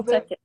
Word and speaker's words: talkative: So Talkative. the A in the middle is not stressed. You barely hear the A in the middle.